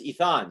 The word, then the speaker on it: Itan: eat on or I tan it learn its eath on so now we could say that right for